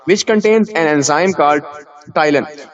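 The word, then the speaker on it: ptyalin: उसके साथ फूड को मिक्स करते हैं मेस्टिकेशन, चबाने के दौरान, which contains an enzyme called टाइलन। P silent है, तो इसके अंदर एक एंजाइम होगा जिसको हम क्या बोलते हैं, टाइलन।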